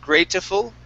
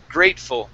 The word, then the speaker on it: grateful: Okay, so on the word grateful, the E here is silent. Instead of grateful, it's grateful.